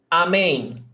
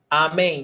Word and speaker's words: Amém: Amém. Amém, 2 syllables. Oxytona, because the last syllable is stressed.